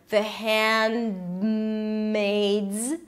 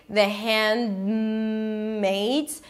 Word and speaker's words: The Handmaid's: The D is a held D, you don't release it.